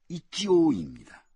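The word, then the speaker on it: 一応: 이 일응을 일본식 발음 그대로 하면은 이치오입니다. 완전하다고는 할 수 없지만 그러나 일단은 이런 의미를 내포하고 있다는군요.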